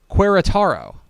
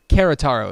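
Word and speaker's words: Querétaro: arkansas state university campus querotaro now perhaps you're wondering who's that kerataro is probably how it's pronounced a-s-a-s-u-c-q oh is located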